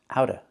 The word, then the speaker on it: out of: We hear out of pronounced out of out of. The T in out is pronounced as a fast D. It's between vowels.